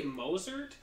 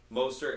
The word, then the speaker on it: Mostert: But is he'll how do you say Mosert? Yeah, Mostert.